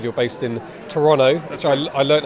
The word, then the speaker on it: Toronto: I know you said you're based in Toronto, which I learned how to pronounce that from Argo. Ben Affleck says they don't say the second T.